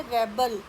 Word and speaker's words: rebel: इसी तरह से नेक्स्ट वर्ड है REBEL, ये भी दो वर्ड हैं, एक है रेबल, रेबल विद्रोही, और उसका वर्ब जो है रिबेल। प्रोनाउंसिएशन ध्यान से सुनिए, रेबल विद्रोही और रिबेल विद्रोह करना।